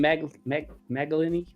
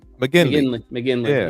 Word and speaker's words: McGinley: How do you pronounce the last name? Magalini? Something like that. For this print. McGinley.